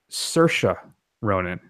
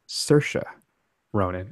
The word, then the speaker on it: Saoirse Ronan: we should clarify that and then finally it's pronounced Saoirse Ronan oh okay she was on a particularly strong